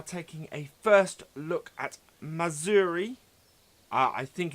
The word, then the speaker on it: Mazury: Today we are taking a first look at Mazury. I think it's pronounced. It's Mazury.